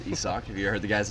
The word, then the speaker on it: Isaac: It's pronounced Isaac. No, it's Isak.